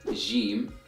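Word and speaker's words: جيم: the letter game and this letter is pronounced as Jim Jim in Modern Standard Arabic so in Modern Standard Arabic it is given that J sound as in the word jaw but in Egyptian Arabic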